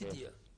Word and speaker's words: Sidya: For correctly pronouncing my name, it's Sidya.